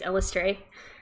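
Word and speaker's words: Eilistraee: There's only one good goddess for the drow, and her name is she has a bunch of different pronunciations, but the easiest one is Elistray. So we're doing that one.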